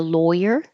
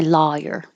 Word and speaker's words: lawyer: So, do you need a lawyer or I want my lawyer? Either way, it's more of a dialectal difference.